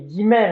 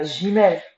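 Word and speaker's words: גימל: Comment, parce que on dit guimel, on dit pas gimel.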